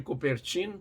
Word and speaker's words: Coubertin: francês o barão de Cooper TAM que a gente pronuncia Barão de coubertin no assim como a